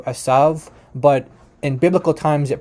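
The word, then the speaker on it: עֵשָׂו: So yeah, just to note again that he is saying that Isa does come from the Hebrew, which in Hebrew it's pronounced asav, which in modern Hebrew asav, but in biblical times it probably would have had very similar pronunciation to Arabic.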